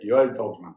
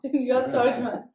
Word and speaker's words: Tordjman: You can pronounce it. Shalom, Yoel Tordjman. Yoel Tordjman.